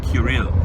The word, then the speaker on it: Cyril: said, this is the voice of Cyril, or Kirill, if you want to use the more ancient way of pronouncing that name.